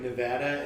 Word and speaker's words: Nevada: Wait, is that like Nevada and Nevada?